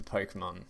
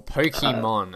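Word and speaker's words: Pokémon: did you get into Pokemon or Pokemon I say with a silent e say hey Pokemon I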